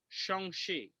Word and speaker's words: Shang-Chi: Let's start off with, I just found out the actual pronunciation of the MCU version. Shang Chi is the name.